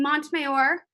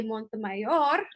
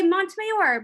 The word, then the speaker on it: Montemayor: I pronounce my last name Montemayor, but my parents would say Montemayor. But I say Montemayor because I'm a disappointimento, you guys.